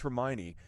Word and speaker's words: Hermione: Well, it's actually pronounced Hermione.